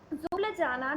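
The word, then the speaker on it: Ljubljana: और स्लोवेनिया की कैपिटल है जुब्लजाना, जिसमें फर्स्ट वर्ड एल होता है, जुब्लजाना होती है और इसकी कैपिटल, और इसमें एल साइलेंट होता है।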